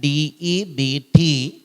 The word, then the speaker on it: debt: ඊළඟට I'm in your මෙන්න මේක හොඳට හිතට ගන්න DEBT debt නෙවෙයි. ඉංග්‍රීසි වල තියෙනවා silent words කියලා જાතියක්. silent words කියන්නේ silent letters කියන්නේ නිශ්ශබ්ද අකුරු.